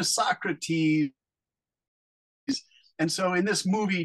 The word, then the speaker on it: Socrates: two boys have to go back and meet Socrates and ask them questions but they're not very good students they're kind of stupid students so they say his name they call him Socrates instead of Socrates and so they they say